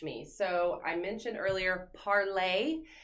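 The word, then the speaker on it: Parler: So I mentioned earlier Parlay. So it's spelled P-A-R-L-E-R, Parlay.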